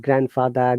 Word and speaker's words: grandfather: there is another one like grand finale this is a french word yeah professor i mean grand finale grand finale yeah here we have to pronounce d but if anything that comes with grand like grandfather grandmother grandchild grandson whatever d is always silent in sandwich it's hard